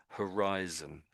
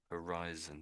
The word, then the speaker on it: horizon: In English, we we don't always pronounce the H, but the majority of the time we do pronounce the H. So this word here is horizon. Horizon.